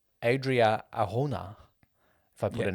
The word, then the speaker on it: Adria Arjona: I did say Mira Sorvino, but it went to Adria Arjona from Morbius. Good pronunciation.